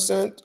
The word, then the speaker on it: scent: What letter is silent in scent? Which one? The smell and scent or right the c.